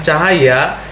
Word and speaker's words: Tjahaja: misalkan Bapak Basuki Cahaya pada penyebutan cahaya dituliskan ejaan sebetulnya adalah t j a h a j a atau dibaca cahaya atau lengkapnya Basuki Cahaya